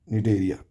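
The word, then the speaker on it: Cnidaria: English में इसको लिखते हैं सी साइलेंट रहता है। निडेरिया है ना?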